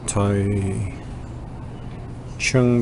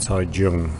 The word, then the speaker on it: Taichung: So, I'm taking the train now to Tai uh how do I Tai Chung, but you pronounce it Tai Jung.